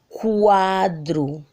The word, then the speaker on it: quadro: Na palavra quadro, ó, quadro. Perceberam? A gente escuta também o som do U, o fonema U.